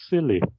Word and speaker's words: SIYLI: And I started a non-profit institute called the Search Inside Yourself Leadership Institute, SIYLI, and it's pronounced as Silly.